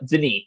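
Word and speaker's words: Denis: specifically the den villain I do not know how to pronounce the name it's French it drives me crazy uh Deni that's his first name uh the recent ones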